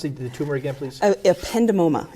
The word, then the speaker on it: ependymoma: Would you pronounce the tumor again, please? Ependymoma.